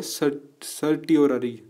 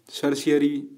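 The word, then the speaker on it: certiorari: ठीक है, चौथी जो हमारी रिट है वो है सर्टियोररी, सर्शियरी, कुछ भी पढ़ो इसे, मतलब ध्यान रखना ये स्पेलिंग है। ठीक है, सर्शियरी पढ़ता हूँ मैं तो इसे, खैर, तो जो भी है ये क्यूरेटिव रिट कही जाती है।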